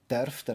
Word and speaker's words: darf der: on, you could say, darf der achte Ziege schnurren? Which, again, glued together, darf der is pronounced like one word.